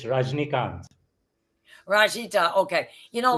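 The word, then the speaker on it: Rajinikanth: don't like to mess up anybody's name it's rajnikant rajita okay you know a lot of people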